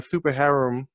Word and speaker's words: Super Harem: Been following your Super Harem. Is that how you pronounce it?